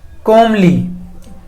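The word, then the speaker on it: comely: आगे देखिए, कोमली। अब इसका मतलब क्या होगा, प्रोनाउंसिएशन कई लोग इसकी अलग अलग कर देते हैं, कई लोग एल साइलेंट कर देते हैं, कोई बात नहीं।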